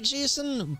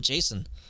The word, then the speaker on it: JSON: the JavaScript stuff so cuz I'm not gonna call it JSON I'm not I'm just gonna pronounce it I'm gonna pronounce it Jason cuz that's easy to say I'm the first to